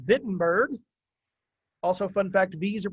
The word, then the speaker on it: Wittenberg: the town of wittenberg in german w's are pronounced like v's so it's wittenberg also fun fact these